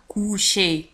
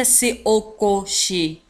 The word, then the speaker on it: coucher: لاحظوا على أن à coucher تكتب ب C-O-U وتنطق coucher وليس C-O-coucher.